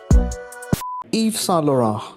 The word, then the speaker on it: Yves Saint Laurent: ईव सां लोरां, कैसी pronunciation की फ्रेंच के अंदर, मज़ा आया कि नहीं आया?